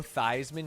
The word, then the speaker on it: Theismann: Did you know that Joe Theismann changed his name to be pronounced like the Heisman Trophy because a marketing guy told him it would help him win it?